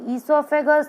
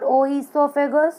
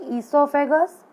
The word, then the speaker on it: esophagus: The mouth and there shows the salivary yellow colored gland here, then the esophagus, not oesophagus, O is silent, so you have to speak esophagus, that is also called